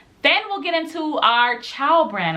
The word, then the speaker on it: Chao: Then we'll get into our Chao brand. I believe that's how you pronounce it. It's spelled C-H-A-O.